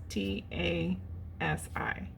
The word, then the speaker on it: Anastasi: I could just make a whole video of me trying to pronounce things and not succeeding. It's Anastasi. When there's too many vowels in there, my brain cannot literally pronounce it. Anastasi.